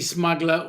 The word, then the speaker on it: smuggler: Sean, budgy smuggler or Nellis. Yeah. See, I like that one. Budgy smuggler. It's the way you say smuggler. You know, don't don't pronounce the last R.